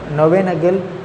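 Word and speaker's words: Knoevenagel: அது என்ன ப்ரொனவுன்ஸ் பண்ணுறேன்னு தெரியல, கே சைலண்டாக நோவேனகல் ரியாக்ஷன் கரெக்டாக இருக்கும் நினைக்கிறேன், பார்த்துக்கோங்க.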